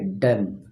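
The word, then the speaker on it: dumb: याद रखना डी यू एम बी बी आपका साइलेंट है।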